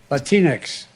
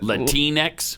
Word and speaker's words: Latinx: proper pronunciation is it latinx is it like kleenex or is it latinx it's latinx that's what i thought